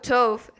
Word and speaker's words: Tove: Okay, I guess I'll talk with Tove. Her name rhymes with Dove.